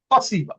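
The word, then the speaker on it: спасибо: স্পাসিবা, স্পাসিবা রাশিয়ানরা কি বলে? পাসিবা, পাসিবা, শুধু পাসিবা বলে। ইস- ওরা এসটা উচ্চারণ করে না, আচ্ছা।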